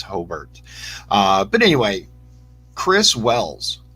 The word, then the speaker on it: Hobart: close from Hobert and I said it right it's hobbert not Hobart I don't know if